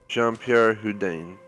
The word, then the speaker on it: Jean-Pierre Houdin: Jean-Pierre Houdin.